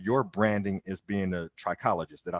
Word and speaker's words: trichologist: know kind of your branding is being a trichologist did i say it right yes okay so